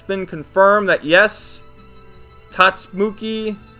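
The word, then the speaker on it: Tatsumaki: been confirmed that yes tats mookie sorry I never read one punch man so I don't know how to pronounce her name tatsumuki tatsamaki that's how it is does wear panties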